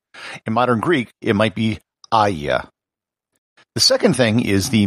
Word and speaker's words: Hagia: been pronounced there's also haya hygia with the h silent the standard pronunciation and what i'll be using in this episode is aya this would be as